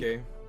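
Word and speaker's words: Circe: Cersei, when in reality the Greeks would have pronounced it Kirky. Or, you know what I mean? the hard C sound, not a soft Wait, one.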